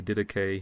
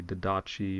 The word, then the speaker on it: Didache: Instead of saying the didache, he'll say the didachi or the some other term.